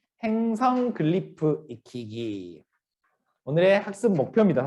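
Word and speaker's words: glyph: 입니다 하실 정확하게 왜냐면 아닌가 예 아까 말했듯이 글리프 라고 하는 마음에 지혜를 y tag 라고 하는 에요 단어를 그냥 한 발음으로 평일을 해 놓은 건데 기호 4 이제 많이들 클리프 라고 많이들 헤어 실제로 영어 책에서도 우리나라 번역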